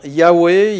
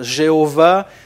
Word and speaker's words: Yahweh: d'ailleurs juste une parenthèse tout le monde s'accorde aujourd'hui pour dire que Jéhova c'est pas tout à fait juste le nom la prononciation juste de ce tetragramme jhwh c'est plutôt y avait que Jéhovah mais bon ça c'est